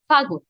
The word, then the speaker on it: ফাগুন: ফুল না বলে বলে ফুল, তারপর ফাগুন না বলে বলে ফাগুন।